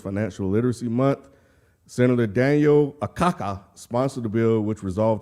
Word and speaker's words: Akaka: by Senator Daniel a Kaka the last name is spelled a-k-a-k-a yeah say their last name again a Kaka